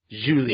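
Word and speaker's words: Zhu Li: Julie was or I I actually saw the pronouncing of her name and it's actually it's it's Zhu l i Julie yeah Julie Julie okay so it's it's a Chinese name oh oh um sorry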